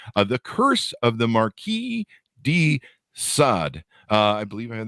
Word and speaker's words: Marquis de Sade: February 21st 2023 uh the curse of the Marquee D sod uh I believe I have that pronounced correctly a note yeah there you go